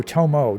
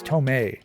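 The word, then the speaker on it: Tomé: Oh, Tomo. No, it's Tome and Principe.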